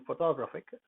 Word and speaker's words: photographic: In photographic, second o, this is not the fo. The toe is photographic. Photographic is stressed.